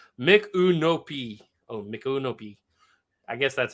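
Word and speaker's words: Micanopy: By the way, it's pronounced Mikunopi.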